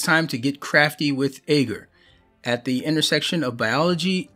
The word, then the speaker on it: agar: A-G-A-R. Let's see. How am I supposed to pronounce this?